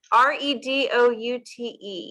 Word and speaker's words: Redoute: Redoute.